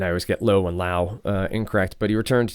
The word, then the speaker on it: Lowe: So it's Brandon Lau. Brandon Lau. I love that says rhymes with now.